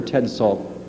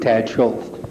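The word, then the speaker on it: Tad Szulc: Well, according to a 1976 article by award-winning reporter Ted Salt, I'm mispronouncing that, am I not? Tad Schultz. Tad Schultz, thank you.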